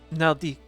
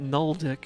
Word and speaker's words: Naldik: Naldik. Otherwise, I'm going to start pronouncing it Nuldik, and that's not great.